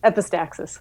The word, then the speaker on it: epistaxis: phrases epistaxis or EP epistasis how do you pronounce that stuff epistaxis okay Flight Aviation Etc to no avail not